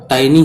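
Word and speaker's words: tiny: छोटे छोटे, टाइनी people, टाइनी टीनी मत बोलना इसको, टाइनी, इसका शुद्ध प्रोनाउंसिएशन टाइनी है.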